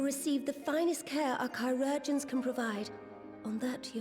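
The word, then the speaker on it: chirurgeons: assured he will receive the finest care our chirogens can provide on that you have my word so that's how you pronounce that word now i will share with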